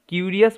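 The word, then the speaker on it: curious: he became কিউরিয়াস, হি অর্থাৎ রাজা became মানে হয়েছিল, কিউরিয়াস মানে কৌতূহলী, এটার উচ্চারণটা কিউরিয়াস, IOUS ইয়াস, ওকে, কিউরিয়াস কৌতূহলী হয়েছিল,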